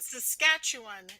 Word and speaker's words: Saskatchewan: I can never pronounce that. Saskatoon, that's the city. Yeah. And Saskatchewan is the province.